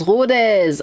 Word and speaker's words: Rodez: On prononce rodez.